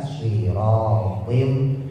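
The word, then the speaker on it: صراط: Sirat sadnya yang belum bisa dimonyongin. Ada taswir, ada suara seperti siul burung. Aa siratim siratim siratim. Jadi bukan si. Kalau si itu buat sin.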